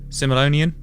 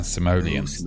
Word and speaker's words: Simoleons: in The Sims and Sim City series oh simonian that's not the right pronunciation of it yeah yeah that's that's not simol correct yeah simoleons okay long yeah that's that's uh Mike and